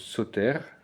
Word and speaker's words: Soter: On a un mot proche aussi du mot Sator, qui se prononce soter, c'est un des épithètes du Christ, qui signifie le sauveur en grec ancien.